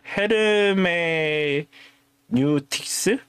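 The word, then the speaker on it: hermeneutics: 아 어 그리고 이거를 헤르메 뉴틱스 헤르메뉴틱스라고 읽어요.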